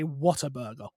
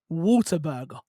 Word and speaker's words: Whataburger: the sun it's like what a burger yeah i'm like oh my god that makes so much more sense but yeah so yeah